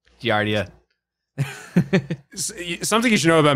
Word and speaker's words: giardia: is that right doctor no okay uh guardian giardia giardia something you should know about me is i can't pronounce anything correctly to save my life um